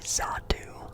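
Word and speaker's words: Xatu: pronounce it right a zatu like a x x a du x a t a zatu like a z sound um it's actually the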